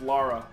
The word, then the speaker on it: Lara: Laura with a U. It's Lara.